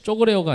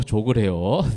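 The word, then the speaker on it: ζωγρέω: 쪼그레요가 아니고 조그레요. 네. 쪼라고 발음하지 말고 조그레요.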